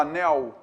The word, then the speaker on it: anel: a letra l l a letra ele em final de palavra ela a gente fala como rapaz eu comprei um anel um ano a gente não fala anel anel mas a pronúncia ideal correta seria o que o anel do sl ele é consoante não é semi vogal beleza e da gente